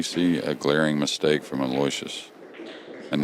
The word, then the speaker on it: Aloysius: about Aloysius, and then I'm American, so I'm Aloysius, and she was laughing at me. No, it's not how you say it. Aloysius.